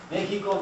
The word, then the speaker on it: Mexico: In the 16th century, Spaniards used to spell this with an X because the X actually reflected the SH sound.